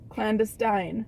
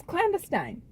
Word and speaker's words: clandestine: Those all rhyme, but guess what? You don't just pronounce it to rhyme with other words. But then why would she have chosen that word? It's clandestine. It Every- is not.